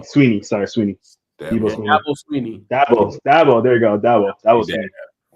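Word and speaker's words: Dabo Swinney: Debo Swanee. I think I say his name right. I'll be messing up people's names. Sweeney. Sweeney. Sorry, Sweeney. Debo Sweeney. Dabo Sweeney.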